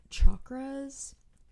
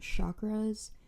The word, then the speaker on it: chakras: Sanskrit they are called chakras um it is pronounced with a CH and not a sh you might hear people say chakras um I guess it's